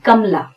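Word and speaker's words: Kamla: हम कमला ऐसा बोलने की बजाय बोलते हैं कमला। यहां पर म जो है उसका पूरा उच्चारण नहीं होता है, कमला।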